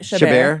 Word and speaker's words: Chabert: Chabert.